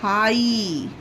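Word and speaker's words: high: आगे देखिए friends H आई जी एच इसे क्या पढ़ेंगे? हाई। हाई। इसे हाई पढ़ेंगे। यहां पर जी के लिए हमने ग का उच्चारण नहीं दिया है। सिर्फ एच के लिए ह का उच्चारण दिया है। और आई के लिए बड़ी ई की मात्रा। इसका क्या मतलब हुआ कि यहां पर जी एच जो है हमारा लास्ट में यह साइलेंट है गाइस।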